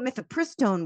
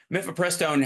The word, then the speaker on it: mifepristone: Mifepristone has 4 syllables in it. So he even at Horton, he tapped out at 3.